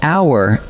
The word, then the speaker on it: hour: But hour and honest start with a silent H. So what your ear actually catches is a vowel, and that is why they take an.